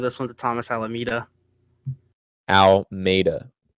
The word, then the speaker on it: Almeida: Almeida. Because Almeida. It's Portuguese. It's not Spanish.